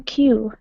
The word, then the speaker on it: queue: word you q q it sounds you pronounce it exactly like the letter Q in the alphabet q q um an hour by the time you queue then when you get